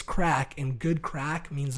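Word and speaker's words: craic: no matt crack crack it's a c-r-a-i-c it's spelt crack like crate but it's crack and good crack means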